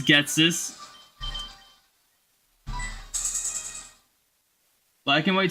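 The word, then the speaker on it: Ghetsis: Is it really Getsus? I thought as a child they want to indicate Jesus with a special pronunciation. Does that look anything like Jesus? You also spelled his name perfectly, so... Yes, it is Getsus.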